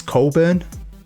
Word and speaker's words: Cockburn: boss john whose name his name is john cockburn it's spelt burn but he says it's colburn it's not me moving on